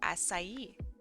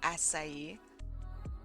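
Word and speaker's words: açaí: look it up actually I think it's pronounced asai uh it's type of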